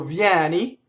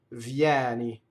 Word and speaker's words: vieni: So vieni, open E, vieni. Notice that the first I vowel is a semivowel, right?